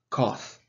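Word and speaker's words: cosh: environments it is pronounced cough it rhymes with the word cloth in america it is pronounced koth rounds rhymes with the word both and finally is hyperbolic cosecant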